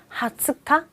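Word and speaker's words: 二十日: 20은 원래 니주, 1은 원래 니찌. 해서 11일부터 31일까지 전부 다 니찌 붙이라고 했는데 한 가지, 하츠카? 이 20일도요, 니찌가 붙지 않아요.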